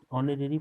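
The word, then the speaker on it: honorary: यहाँ देखिए ऑनरेरी poet, यहाँ एच आपका साइलेंट है, इसीलिए इसमें एन लगेगा 59 में।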